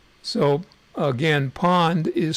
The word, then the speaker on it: pwned: service from a website called I have been pawned calm and you insert your email in that